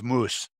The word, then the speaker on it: moose: word moose and says how do you say moose in a jway it's moose that's where the word comes from fair enough and the